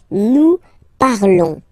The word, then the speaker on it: nous parlons: Nous parlons, okay? Remember, final S is not pronounced, okay? And then this O-N together, they will give you the sound on, on, okay? Nous parlons.